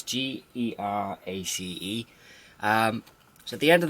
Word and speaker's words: Geraci: I hope I'm pronouncing that right. It's Gerace.